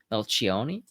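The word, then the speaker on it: Melchionni: I actually am kind of more interested in his predecessor, Melcioni, Bill Melcioni, Melchioni. Got to nail the Italian pronunciation.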